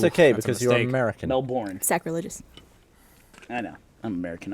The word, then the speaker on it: Melbourne: Somebody on Twitter caught the fact that I almost mispronounced Melbourne. I said Melbourne. But that's Ooh, okay that's a because you're mistake. American. Melbourne.